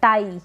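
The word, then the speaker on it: tie: करना सीख सकते हैं नेक्स्ट है आई ई आई ई आ जाए साथ में तो इसको हम आई पढ़ रहे हैं जैसे कि यहां पर है टी का तो ट हो गया और आ की मात्रा लग गई ट पे आई हो गया और फिर ई क्योंकि आई ई है ना इसलिए आई ई तो टाई यानी कि बांधना फिर है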